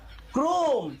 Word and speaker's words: Chrome: এই দেখো, মোবাইলে চরমে থেকে না ভালো ভালো সিনেমা ডাউনলোড করা যায়। চরমে? আরে বউ ওটা চরমে না, ক্রোম, CHROME ক্রোম।